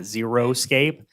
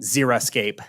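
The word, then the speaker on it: xeriscape: mistaken the term is zeroscape x e r icape not zeroscape I just it keeps getting repeated I want to make sure we're all writing and saying the same do the do the pr pronunciation again Zer Escape Zer Zer Zer x e r icape okay like a xox machine okay okay and once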